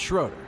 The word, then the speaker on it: Schroeder: lot during the race how consistent can schroer be sh Sher schroer no it's Schroeder I said it right the first time and and we're sticking